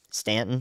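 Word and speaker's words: Staunton: Stanton, thank you. The U is silent, but the thunder is not.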